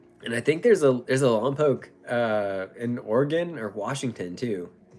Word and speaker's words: Lompoc: Where I live in this place called Lompoc, right? And no one can pronounce it. They always call it Lompoc.